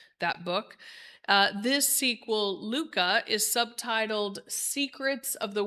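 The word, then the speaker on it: hygge: And so imagine my surprise when I picked up the little book of Luca, this very differently spelled word is is pronounced Luca.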